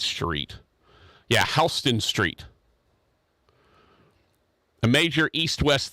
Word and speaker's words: Houston: could be talking about hon Rogers you know what Halston is spelled the exact same way it is apparently a road in New York City and they pronounce it hon not Houston so dumb Yankees don't